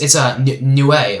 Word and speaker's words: Niue: Oh no, it's Niue. I forgot how you pronounce it.